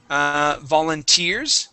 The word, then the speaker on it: volunteers: All right, let's go to volunteers. Okay, stress here at the end.